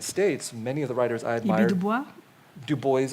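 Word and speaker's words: Du Bois: many of the writers Dubois as well he pronounced his name the American way many of the American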